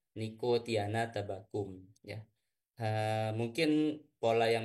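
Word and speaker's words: Nicotiana tabacum: latinnya ya itu membacanya Bukan no Tiana tabacum bukan ya tapi membacanya niktiana tabakum ya Ee mungkin pola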